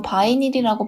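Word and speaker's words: vinyl: 비닐은 영어로 바이닐이라고 발음되며 스펠링은 B-I-N-Y-L인데요. 비닐봉지의 비닐이 바로 영어였습니다. 영어 발음으로는 바이닐이지만 한국식으로 발음하여 비닐이라는 단어가 탄생했다고 합니다.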